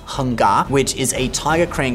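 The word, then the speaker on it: Hung Ga: He learned Hong Jia Quan, which in Cantonese is pronounced Heng Ga, which is a tiger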